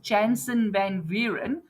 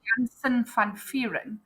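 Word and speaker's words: Jansen van Vuuren: I know you guys pronounce it Jansen Vanver, but it's actually Jansen Fanfiran.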